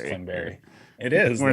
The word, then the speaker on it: Klingberg: It's pronounced Klingberry.